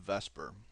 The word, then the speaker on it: VSEPR: electron pair repulsion Theory oftentimes pronounced as an acronym Vesper now vs Theory Vesper theory in chemistry helps